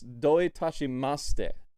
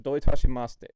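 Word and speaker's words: どういたしまして: to say you're welcome the easiest way to remember you're welcome in japanese is don't touch my mustache because in japanese it's doitashimaste so don't touch my mustache doitashimaste that's how i remembered it at least yes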